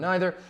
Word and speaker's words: neither: about the usage of neither. According to the rules of grammar, the pronoun neither, or neither, if you want to use that pronunciation, is singular and requires a singular verb.